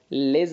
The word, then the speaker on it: les: والاس هنا تنطق الزد علشان وقع بين دو فويال ليز ارتيكل انديفيني على